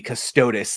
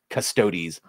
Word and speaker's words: Custodes: look how it's pronounced it does look like it would be custodis like adeptus custodis but adeptus custodes and then everyone just says custodes can we get another